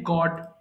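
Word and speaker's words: gourd: Pointed গড পটল। এটা কিন্তু গড হবে, উচ্চারণটা একটু ভালো করে খেয়াল করেন।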